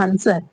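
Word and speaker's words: answer: W silent हो गया। Okay? Sword means क्या होती है? तलवार होती है। आंसर तो इससे डब्ल्यू से पहले एस आया।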